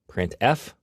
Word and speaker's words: printf: They are pronounced: printf, putchar, and puts.